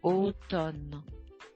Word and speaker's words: automne: Say it, automne.